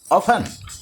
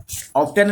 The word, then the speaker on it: often: Not feel ill very ऑफन। यहाँ पर T silent है, ये OFTEN में ऑफन पढ़िएगा। यहाँ पर ऑफ्टन नहीं पढ़ लीजिएगा, ऑफन पढ़िएगा। टी साइलेंट, ऑफन का मतलब होता है कि जल्दी जल्दी जल्दी या जल्दी से।